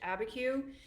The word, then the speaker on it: Abiquiu: So today we are going to be creating my finished Abiquiu. That's how you say it.